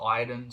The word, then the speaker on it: Aiden: Ireland I had an Aiden whatever however everyone is it's spelled Aiden but she calls him Iden so I sometimes flick